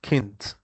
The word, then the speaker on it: Kind: It's the German term kind, but in German it mean it it's kind or it's pronounced k pronounced kint.